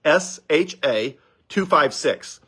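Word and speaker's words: SHA-256: is the same one right now is called sha 256 s h a256 and it's uh I forget it's a complicated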